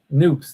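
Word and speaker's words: Knoops: It's spelled Knoop. Let me look it up on the map here for just a second. Noops. Yeah. Noops, that's the name of it.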